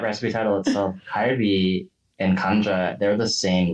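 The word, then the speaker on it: 감자: Kamja, not Kim, but kamja. Now I'm like kimbap totally makes sense to me. And to that point, Andrea, in that recipe title itself, kalbi and kamja, they're the same letter.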